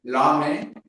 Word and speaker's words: l'home: En el cas primer que tenim ahí, l'home, realment, encara que tenim una consonant, aquesta consonant primera és muda. I tu la primera lletra que pronuncies és la vocal O, l'home.